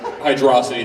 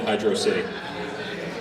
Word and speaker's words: Hydrocity: Sonic games so uh if you look at the Japanese pronunciation I'm not going to butcher it but it it's more H hydrosity than Hydro City how do you figure